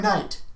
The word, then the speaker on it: knight: used at the beginning fresh remember you're a knight what night I feel like a stove this